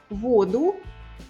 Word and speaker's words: воду: Воду, воду.